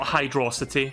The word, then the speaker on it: Hydrocity: and that lesson is it's pronounced hydro city not hydrocity it's hydro city we're